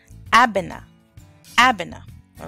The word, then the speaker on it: Abena: country of Ghana you are called a bona Abena all right and if you are a Tuesday